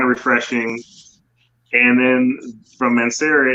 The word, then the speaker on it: Mancera: It is from Mancera. Yeah, so it's funny because you have the Aventus, you have that pineapple note that's kind of refreshing, and then from Mancera it's a little creamier version of Aventus in my opinion.